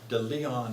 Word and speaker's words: De Leon: of edwin de leon de leon is the way it's pronounced in south carolina it's a spanish names